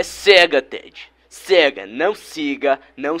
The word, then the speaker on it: Sega: fiz alguma coisa errada a pronúncia certo é cega Ted podemos fazer de